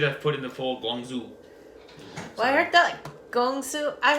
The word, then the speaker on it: Guangzhou: Guangzhou, like Zhou.